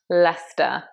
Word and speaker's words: Leicester: But it's in fact Leicester. Practice this along with me. It was amazing when Leicester won the Premier League.